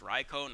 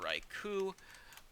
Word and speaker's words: Raichu: a bit and yes I'm saying raicho it is pronounced raicho not Raichu um gets in her Focus